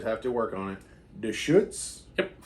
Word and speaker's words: Deschutes: And on this episode, I've got one from, I think I'm pronouncing this right. I always have to work on it. Deschutes? Yep. Deschutes.